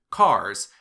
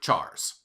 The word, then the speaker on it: char: and degrees of precision you will hear some people pronounce the primitive data type for characters as cars and others will say chars here is a closer